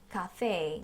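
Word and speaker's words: café: cafe. 자, 카페라고 하실 때도 발음 주의해 주셔야겠습니다. 카페가 아니라 카와 까의 중간 발음 카페인데요.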